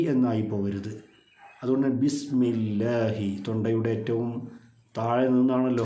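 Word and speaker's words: بسم الله: ആയത്താണ് ബിസ്മില്ലാഹി റഹ്മാനി റഹീം ഈ ബിസ്മി ഓതുമ്പോൾ പലപ്പോഴും ബിസ്മില്ല ബ എന്നുകൊണ്ട് തുടങ്ങുന്ന ആളുകളുണ്ട് അത് ശരിക്കും ബാഹ് എന്നുള്ള അക്ഷരത്തിന് കസറ ബി എന്ന് തന്നെ ഉച്ചരിക്കണം ബിസ്മില്ല ചില ആളുകൾ ബിസ്മില്ല അവിടെ ഒരു യാഹ് ഒരു ദീർഘം വരാറുണ്ട് അങ്ങനെയും സംഭവിക്കാൻ പാടില്ല അത് അതുകൊണ്ട് തന്നെ ബിസ്മില്ലാഹി ബിസ്മില്ലാഹി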